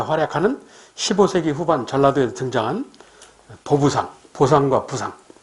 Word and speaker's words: 보부상: 15세기 후반 전라도에서 등장한 보부상, 보상과 부상. 원래는 부보상인데 발음하기 힘들어서 보부상이라고 하는 거예요.